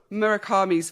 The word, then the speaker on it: Murakami: Murakami's flowers, right?